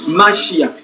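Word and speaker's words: מָשִׁיחַ: en français mais c'est-à-dire la prononciation en hébreu c'est c'est-à-dire masia qui signifie quoi le choisi de Dieu ça fait un h si Messie est le choisi de Dieu.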